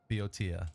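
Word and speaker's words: Boeotia: of uh uh bio I'm gonna totally butcher this pronunciation uh bo eing uh biodia is in Greek biotia there we go that's beautiful pronunciation boto so we can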